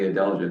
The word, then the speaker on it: adelgid: Yeah, and thus the name woolly adelgid.